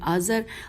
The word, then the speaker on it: آزر: نام یہ تھے آبان، آزر، دئی، اچھا ہجے کر لیتے ہیں، الف مدہ بے الف نون آبان، الف مدہ زال رے آزر، اور دئی جو ہے